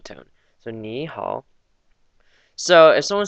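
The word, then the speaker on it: 你好: And the pinyin was N-I, downward arrow, so ni, and hao, H-A-O, downward arrow again, so it's the down-up pronunciation tone. So ni hao.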